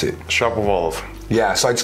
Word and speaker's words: Shapovalov: How do you pronounce it? Shapovalov.